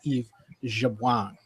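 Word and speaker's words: Yves Jabouin: Elbow advises us that the proper pronunciation is is Eve Jabang.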